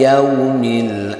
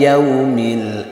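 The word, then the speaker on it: الْيَوْمِ: Coba wabil yaumil akhir. Wabil yaumil akhir. Di sini yang panjang yang mana? Yang a ya. Kalau yau pendek awas ini adalah madlin harflin. Yau yau lentur bacanya lemas.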